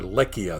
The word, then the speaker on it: Lycia: It was administered by Xanthos and was the spiritual heart of Lycia, or Lycia, the Turkish pronunciation, and the place of national festivals.